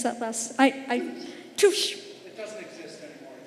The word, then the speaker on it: Touche: and the Deloitte and Touche, how do you pronounce that last? Touche.